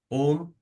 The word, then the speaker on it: ओम: ओम, दीर्घ ओम का उच्चारण करेंगे, ओ और म।